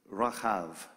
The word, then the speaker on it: Rahab: Let's take a second and let's go in our minds to the story of Rahab, or as you would hear it pronounced in Hebrew, Rahav.